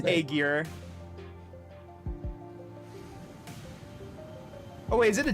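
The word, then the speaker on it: Ægir: That is Really, definitely- it is pronounced Aegir.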